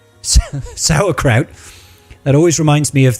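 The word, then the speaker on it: sauerkraut: 1500 not too bad pronounced like sour spelled like s yeah sourkraut that always reminds me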